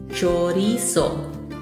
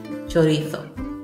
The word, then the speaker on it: chorizo: In Spain, you will pronounce the Z as a TH, chorizo. Yo soy de Latinoamérica, I'm from Latin America, and that's why I pronounce it chorizo.